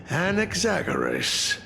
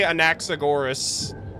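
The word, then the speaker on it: Anaxagoras: Also, I hate how they pronounce his name. Anexagoras. I hate that. I It's probably how you're supposed to pronounce it. I say Anaxagorus. So, I think that sounds cooler.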